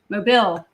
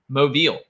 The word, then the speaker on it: Mobile: know how to pronounce mobile see my it just mobile you have to like peel your lips way back it just it's you